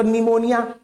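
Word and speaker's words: pneumonia: एक शब्द बोलोगे तो निमोनिया निमोनिया सुने हो ना तो उसमें भी गायब हो जाता है। पी नहीं पढ़ते।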